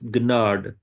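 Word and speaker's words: Gnade: In the same way, we have G and N combination, and we pronounce both letters. We pronounce this word as gnad. Gnad is grace.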